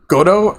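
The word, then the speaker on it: Godot: Believe is pronounced Godo, like rhymes with gobo. So is Godo. I thought it was God. So, it's Godo.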